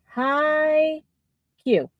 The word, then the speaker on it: Haikyu: No, it's spelled here. That's what H-A-I. It's high Q.